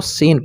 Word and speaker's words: scene: उसी तरह से एक और एग्जांपल लेते हैं, जैसे SCENE, तो इसको स्किन नहीं पढ़ेंगे, इसको सीन पढ़ेंगे, सीन। सैंड ले लीजिए, SCENT, तो